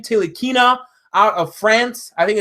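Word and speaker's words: Ntilikina: Tilikina out of France. I think it's how you pronounce it. Tilikina. I think the N is silent.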